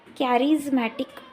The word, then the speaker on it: charismatic: We have to pronounce this CH as a K. Okay? Charismatic means प्रभावी व्यक्तिमत्व.